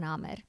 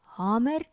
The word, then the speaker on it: hamer: in 1971 verskyn het, word die uitspraak met 'n lang A- klank, dit wil sê hammer, is gelyks soos die Nederlandse uitspraak of 'n kort a klank, dit wil sê hammer aangedui en baie afrikaansprekende spreek Hammer vandag met 'n kort beklemtoonde a klank uit.